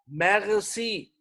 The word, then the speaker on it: merci: मैक्सी। आर आपको मैं- बताया है गैन, मैक्सी। समझ आ रही? आई जो है वो ई की जी साउंड देगा।